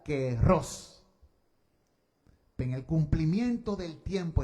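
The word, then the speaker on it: καιρός: En griego eh se escribe en español cairó, se pronuncia querros.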